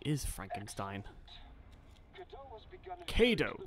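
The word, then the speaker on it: Cadou: Kado, that's how it's pronounced.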